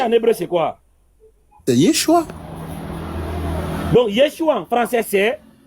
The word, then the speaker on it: Yeshua: Ah, ça se prononce comment? Mais j'ai lu Yeshua. Yeshua, très bien.